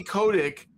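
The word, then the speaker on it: Kotick: Um and we have uh uh Activision Activision former Activision Blizzard CEO Bobby Cotic or Kotic. How do you say it? KODC. Bobby Kodic uh who was a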